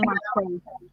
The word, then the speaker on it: matzá: Sí, la matzá. ¿La qué? Matzá. Sí. Matzá en singular y matzot en plural.